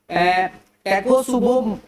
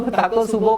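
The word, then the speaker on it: Takotsubo: Unclassified cardiomyopathy को हम लोग बच्चों टैकोसुबो कार्डियोमायोपैथी भी बोलते हैं, टैकोसुबो कार्डियोमायोपैथी भी बोला जाता है।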